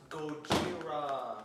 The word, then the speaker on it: Gojira: And oh yeah, we don't call him Godzilla. Real fans call him. It's Gojira. pronounced Gojira.